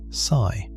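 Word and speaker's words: ψ: The wave function is usually represented by the Greek letter that physicists pronounce psi.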